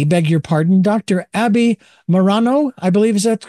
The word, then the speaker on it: Maroño: Abbie Maroño, I believe. Is that correctly pronounced, Doctor? Yeah, Maroño. Maroño.